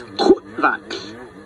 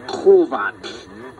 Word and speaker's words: kutvak: The correct pronunciation is kutvak, not kovak.